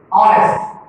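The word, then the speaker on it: honest: इस चीज को आपको ध्यान देना है कि यदि कॉन्सोनेंट से शुरू भी हो रहा है लेकिन इसका जो उच्चारण होता है, साउंड होता है, वो वावेल से शुरू होता है। ऑनेस्ट, ऑनरेबल, तो हम लोग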